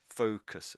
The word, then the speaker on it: focus: But if I would say that she the lady the dictionary here is emphasizing the O. She's emphasizing the O there. So focusing. Focus or focus in this case.